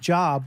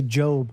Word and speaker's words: Job: It's spelled like Job, but people say Job cuz that's his name.